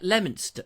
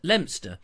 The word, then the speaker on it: Leominster: to somewhere near let Leominster limb stir now a lot of people get that wrong they call it Leo Minster and it's not Leo